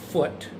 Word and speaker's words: Foote: William Foote, who, and it's spelled F-O-O-T-E, or Foot, who believed in me from the beginning.